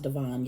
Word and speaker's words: Devon: I keep calling him Devin, and I know it's pronounced Devon.